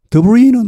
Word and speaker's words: debris: debris는 원래 프랑스어에서 나왔죠. 이 프랑스어에서는 대부분의 단어들이 마지막 자음이 발음나지 않습니다. 영어도 물론 그런 추세가 약간 있지만 그러나 발음이 완전히 안 나는 것은 아니고 약하게 되거나 거의 안 들릴 뿐이죠. 불어에서는 아예 생략해버립니다. 발음되지 않습니다.